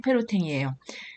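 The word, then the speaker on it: Pérotin: 바로 작곡가겸 수도사 있죠 그래서 레오냉 페로탱 프랑스식 발음으로 레오냉 페로탱이에요 그리고 이 노담 성을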